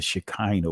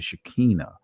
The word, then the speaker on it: Shekinah: is referred to as the Shekinah the Shekinah or the Shekinah I'm standing in three different pronunciations because uh some will say Shekinah some would say Shekinah